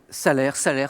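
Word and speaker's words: Salers: Salaire aussi parfois, on peut prononcer le S.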